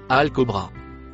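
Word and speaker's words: الكبرى: Le mot en bleu foncé se prononce alcobra.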